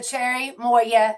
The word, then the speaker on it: Cherimoya: I love I love the Cherry Moya gel liner, and it's pronounced Cherry Moya, I guess, but it's CHERIMOYA if you want to look it up. CHERI, Cherry Moya, MOYA. That's the way I pronounce it.